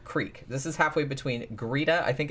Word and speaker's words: Greta: this is halfway between greeda i think it's greeda it looks like greta but i think it's pronounced greeda and glenn rowan this